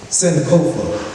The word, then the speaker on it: Sankofa: Sankofa is pronounced Sankofa. It is a word in the Twi language of Ghana, meaning to retrieve, literally, go back and get.